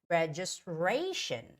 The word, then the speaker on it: registration: I tell you guys whenever the word ends with t IO n the stress goes on that the the syllable in front of TI right so in this case it's going to be registration registration right and again there's the